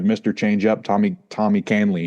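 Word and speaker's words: Kahnle: change up Tommy Tommy Canley excuse me it's a tough one because it doesn't sound like how it's spelled but he threw 28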